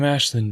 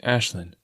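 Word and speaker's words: Aislinn: and turns back I'm Ashlin by the way it's spelled a i s l i n n but you say it like Ashlin oh I say awesome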